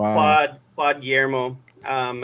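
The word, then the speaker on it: Guillemot: Claude Claude Germo, um I think is how you say his last name. It's I'm not sure if I'm saying that right. Say uh spell it out for me. I can't remember. So it's gu i l e m o t. Oh, gimon. That's French. Gimmo. Yeah, okay.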